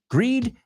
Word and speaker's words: greed: Greed rhymes with seed, right? I'm sure you can think of some more.